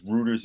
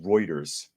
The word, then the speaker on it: Reuters: to have insider trading and all people says Rutters is actually pronounced Reuters uh because it's a German newspaper okay okay I don't know I never heard it I just read it so Reuters Reuters I'll try to remember that I might